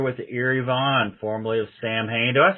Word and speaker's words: Samhain: Is it actually Samhain, or is it like the old Halloween version, that like they talked that Halloween movie, the Samhain? Yeah, well, that's the correct pronunciation, but we always figured it was too confusing for people, so we just went with the spelling, I guess.